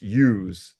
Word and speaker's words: Iuz: ooze, How do you say that name? And as I say IUZ, and he says, ooze. it's use, like use guys.